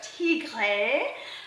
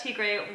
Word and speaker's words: Tigre: I have this man, Chef Tigre. And how do you pronounce it actually? Tigre. Tigre. Tigre. Tigre. Tigre. It's a, if you do, if, even in French, it's tigre.